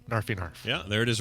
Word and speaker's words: KnarfieKnarf: My Instagram is /NarfyNarf, but that's spelled KNARFIEKNARF. So Narf, KNARF, NarfyNarf.